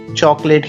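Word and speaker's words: chocolate: एल ए टी ई चॉकलेट बच्चा इसमें जो सेकंड वाला ओ है वो साइलेंट रहेगा इसको चॉकलेट नहीं चॉकलेट ही पढ़ेंगे बच्चा आज का आखरी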